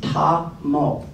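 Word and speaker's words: Tahmoh: And I wanted to say, everybody, it's Ta-mo. 2 syllables.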